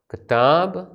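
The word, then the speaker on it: ܟܬܒܘ: പൂർണ്ണ രൂപവും ചുരുക്ക രൂപവും കിതാബൂൻ എന്നുള്ളത് ചുരുക്കി എഴുതുമ്പോൾ കിതാബ് എന്ന് എഴുതും അവസാനം ഒരു വാവ് ഉണ്ടായിരിക്കും ആ വാവ് ഉച്ചരിക്കുന്നില്ല ഉച്ചാരണ നിയമം അനുസരിച്ച് ഒരു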